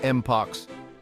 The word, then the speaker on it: mpox: down for you and yes you heard that right it's pronounced moox so grab your match